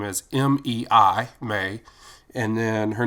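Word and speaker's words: Mei: The author's name is M-E-I, May, and then her name is M-A-T-S-U-O-K-A. So I phonetically broke that out so that I could say it correctly in my voiceover.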